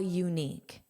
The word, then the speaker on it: unique: Most of the time, the vowel spelling does match the article, but this is pronounced as you. So it's actually a consonant sound. And that's why we have a unique.